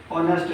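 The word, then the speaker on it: honest: इसके पहले एन का प्रयोग इसलिए किया जाएगा क्योंकि इसका उच्चारण होता है ऑनेस्ट से।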